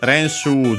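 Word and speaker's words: 練習: And yeah, then we have this Renshu GI. Which is a compound, a Chinese compound, but a big one of 4 kanji. it's actually a compound of combines two kanji Chinese compounds, renshu, unaccented, which means practice, training, and so on, exercise.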